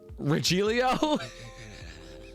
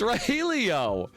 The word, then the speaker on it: Rogelio: And then she's like, well, not Rogelio. How do you think it's pronounced? And I was like, Regilio? And she's like, no, it's Rogelio.